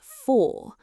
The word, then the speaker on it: for: The word for, strong form rhymes with door. Weak form sounds like f.